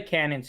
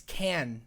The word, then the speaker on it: Cannes: that's like that's the cannons film festival cannons film festival it's yeah can but it's canon's film festival no it's it's can though you're saying it wrong it was it was